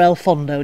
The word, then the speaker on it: El Fondo: We're going to go to El Hondo or El Fondo, depending how you want to pronounce it. Well, why is it called El Hondo or El Fondo? Because one's Valencian and one's Spanish.